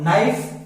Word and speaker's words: knife: तो your नाइफ, नाइफ क्यों बोलेंगे? योर नाइफ, क्योंकि के बाद एन है इसलिए के रिमेन्स साइलेंट।